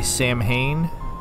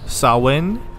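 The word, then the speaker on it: Samhain: celebrate uh what a lot of people say sam Hayne that's but that's I know that's not the correct way to say it I believe it's it's sawin is the correct way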